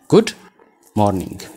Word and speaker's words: good morning: Good kan jettu kana akka keenyaatti good jedhanii g jedhanii morning jedhanii gaasana otoo hin dubbisiin bira darbu.